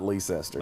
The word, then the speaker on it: Leicester: Nope, there's too many letters in that word for it to be pronounced that way. No, that's the Leicester. It's not Leicester.